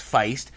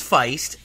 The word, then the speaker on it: Feist: to play fice and i think it's pronounced feist just like the band FBI st anyway so